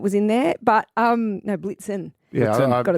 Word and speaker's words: Blitzen: Was it Dasher and Rudolph and I Prancer think and Blitzer. Blitzer, yeah. Yep, it was in there. But no, Blitzen. Yeah, Got its name wrong.